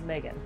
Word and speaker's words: Megan: I think it's more commonly produced in that kind of Oceania part of the world, but it is Megan. I've definitely heard it pronounced Megan, so I had to kind of like, I had to double check.